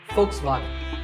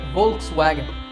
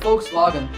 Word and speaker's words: Volkswagen: another german car manufacturer volkswagen i personally used to say volkswagen but i have since learned that the initial v is actually pronounced as an f sound in german so the first part